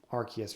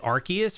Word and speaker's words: Arceus: guess you like work your way up to Arceus or something, then you battle Arceus or something.